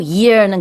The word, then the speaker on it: year: year 같은 경우에는 year하고 year는 굉장히 다르거든요. 하나는 귀고 하나는 몇 년도니까 요거를 구별을 해야 되는데 발음 되는 발음이에요. 요거를 그냥 얘야 왜 그러니 요 느낌 생각하면서 year 하시면 됩니다.